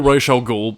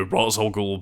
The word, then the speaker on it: Ra's al Ghul: Then there was another thing where, again, I know the Nolan movies went with, you know, Ra's al Ghul because I think that's meant to be the correct pronunciation within that specific tongue, but yeah, the animated series called him Ra's.